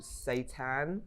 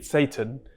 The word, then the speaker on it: seitan: So I have this thing called seitan. I'm sure I pronounced it right. Yeah, seitan. So I have that as my. I like how it's Satan, but you pronounce it differently.